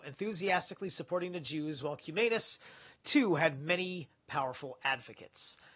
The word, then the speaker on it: Cumanus: It's Cumanus. It's probably Cuminus. So, if I'm going to be fair about anus, I got to be fair about Cuminus.